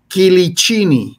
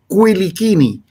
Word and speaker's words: Quilichini: i but uh uh Corsica was part of Italy at one point in time so it's Italian pronunciation so the correct pronunciation is quini but we say but